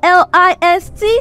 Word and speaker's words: list: Now note, your L-I-S-T has a short E sound. It's not least, it's list. List of items to buy. List of items. I am not the least in my family. Least E, the long E sound.